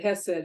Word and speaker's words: Hesed: anybody who speaks Hebrew, but the first consonant in this word is pronounced in your throat, and I cannot do it.